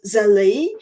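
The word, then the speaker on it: zellij: look up the special type of Mosaic called Z it's spelled z e l l i j and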